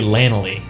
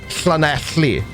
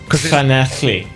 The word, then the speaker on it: Llanelli: In Wales, or in the Welsh language, 2 L's is... What? I'm not cleaning my throat. Like a cockroach. So that word is Llanelli. Llanelli. That's it. Nailed it. Because there's 2 double L's in it.